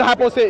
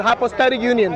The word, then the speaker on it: hypostatic union: It's not hypostasia. It's called hypostatic union.